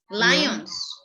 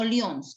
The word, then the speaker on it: lion: peelings, and peel, While lands like then the lions. Lion, no leons.